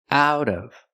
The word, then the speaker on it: out of: of out of prononciation out of the T changes to a fast D out of she's pulling